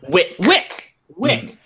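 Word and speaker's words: Wicke: Wick. Because it rhymes with thick.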